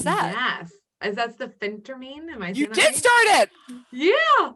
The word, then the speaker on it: phentermine: medication what was that yes as that's the phentermine you did start it yeah i said it